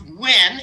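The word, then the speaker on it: Nguyen: that n-g-u-y-e-n and you that's pronounced win even though it says ng win and then cal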